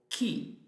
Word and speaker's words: chi: So that's the way to have a hard sound when the vowel is E or E. For example, perché, because or why. Or che, the syllable che, C-H-E. Or chi, C-H-I, who.